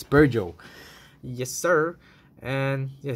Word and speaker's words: Peugeot: The more you know, it's pronounced Peugeot, not Peugeot or Peugeot. It's Peugeot.